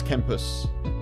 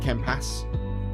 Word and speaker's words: Kempas: me, and just to tell people that it was Kempus rather than Kempas.